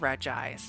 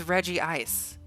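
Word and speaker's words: Regice: Pokemon's name Reggie ice everyone was like that's re ice and I think the anime animi the anime even was pronouncing his name wrong um I'm pretty sure it's Reggie ice it's Reggie ice the anime got it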